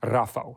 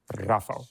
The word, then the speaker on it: Rafał: really hard time with Rafał, which is my Polish last name, because a lot of Americans cannot do the rolling R, Rafał.